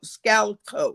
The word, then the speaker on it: Maniscalco: And um and it's a Manny Scallo. Scallico, that's how you say it.